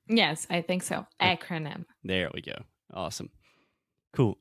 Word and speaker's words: acronym: absolutely first the pronunciation we say acronym so the first sound is that really open a sound that we have in English just like apple hat cat disaster Master you get the point yes I think so